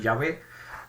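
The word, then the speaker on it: Yahweh: pronunciado Y eso va algunos consideran que la pronunciación Ya ve es la apropiada yo no voy a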